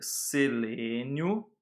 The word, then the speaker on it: selênio: Ele se chama selênio. Então a gente vai escrever selênio, sem um acento, porque vai mudar a sílaba tônica, tá?